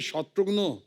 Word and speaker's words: शत्रुघ्न: मिसाल के तौर पे मेरे बंगाली फ्रेंड अभी तक मुझे कहते हैं कि रे शत्रुघ्नो केमन आशीष। शत्रुघ्नो डॉक्टर नो का भाई बना दिया है।